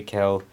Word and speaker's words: Calsius: As discussed in issue 4, Lieutenant Calsius. I am butchering that name. Get over it. I'm not feeling well, guys. I will figure out how to pronounce that properly. Calcius.